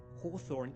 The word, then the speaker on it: Hawthorne: But still haw haw, not ho.